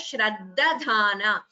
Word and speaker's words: श्रद्धधाना: This da is Alpaprana. Dhana. Dha is Mahaprana. Only the second dha is Mahaprana here. So the word should be pronounced as Shraddhadhana.